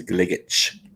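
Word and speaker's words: Gligic: up at the pronunciation because it's serbian last name is gligetch thank you um so lower lower and gligage have been two of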